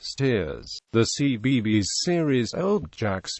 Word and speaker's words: Staithes: Locally, the name was traditionally pronounced Steers.